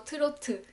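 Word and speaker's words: 트로트: Hola, hoy les quiero presentar un género de música coreana que se llama trot, la cual los coreanos pronunciamos como turotu, en tres sílabas, turotu.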